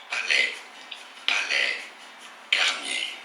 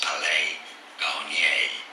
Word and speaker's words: Palais Garnier: Palais Garnier is how it's said in French, so in English you could say it as Palais Garnier. Palais Garnier, or in French, Palais Garnier.